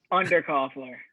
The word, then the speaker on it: Underkofler: us today is uh mr jack will you pronounce your last name so i don't say it wrong under coffer uh jack undercoupler from deadpool society how you doing today jack